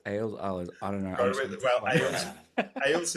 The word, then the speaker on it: Ahles: Ahles is how my dad pronounced our name, so I'm Ahles. Ahles would have been how it was originally pronounced. Like I sourced back to Germany, and it would have to be pronounced that way.